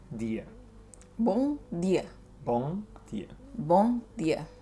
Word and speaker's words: bom: Okay, so as a guide for pronunciation, it's not bom, you don't close your mouth. You'll just say bom. Bom. B-O-N-G. Yeah, but without the G, so bom.